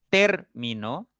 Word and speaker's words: término: Por ejemplo, en término, la sílaba fuerte o el acento recae en ter, ¿no?